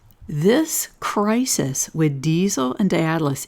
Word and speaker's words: Daedalus: Here's the asteroid Diesel, and it is conjunct Daedalus, or Daedalus, as my Greek friend Alex keeps telling me. Daedalus is the proper pronunciation.